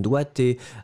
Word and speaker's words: doigté: a plusieurs, vous pouvez avoir des adjectifs comme doigté, un verbe comme doigté, vous pouvez avoir d'autres